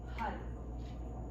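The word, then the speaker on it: Har: So it's spelled H-A-R, but you're going to say HUD.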